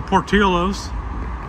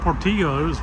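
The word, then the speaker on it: Portillo's: uh there's a new Portillos I thought it was Portillos but no it's Portillos got to pronounce it like they do in Chicago where it started but they have hot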